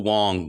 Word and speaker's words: Wang: Uh Lympo Wong, I used to pronounce it Wang. It's Wong.